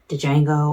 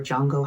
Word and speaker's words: Django: So yeah, like there's been all these different iterations of Django or Django, however you pronounce it, is still the correct way.